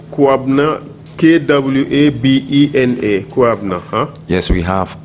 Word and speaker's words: Kwabena: K-W-A-B-E-N-A.